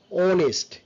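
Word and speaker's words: honest: not weather weather গোস্ট এন্ড এখানে এই সাউন্ডটা সাইলেন্ট থাকবে ইটস অনেস্ট অনেস্ট আওয়াজ ওয়াইল নট হোয়াইল অনেকে আমরা হোয়াইল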